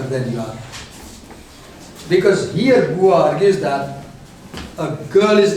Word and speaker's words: Beauvoir: The pronunciation is Beauvoir, but the spelling is different.